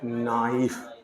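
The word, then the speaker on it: knife: पढ़ेंगे इसको हम लोग नाइफ के का उच्चारण ही नहीं करना हम लोग को के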